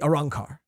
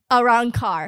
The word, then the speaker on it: Arrancar: The Arrancar. Arrancar.